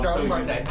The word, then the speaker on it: Starling Marte: I was thinking I pronounced it No, wrong. you had it right. No, you had it right. Starling Marte.